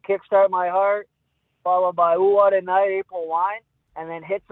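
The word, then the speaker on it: Oowatanite: with the album, and it's spelt ooh, what a night, but as in one word. Yep. Right? And he called it, ooh, what a nitty. And we had to correct the kid.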